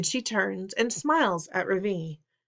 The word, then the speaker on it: Ravi: Ravi has his hand up. "Yes, Ravi," says Mrs. Beam. I notice she says his name right for the first time, with the accent on the second syllable.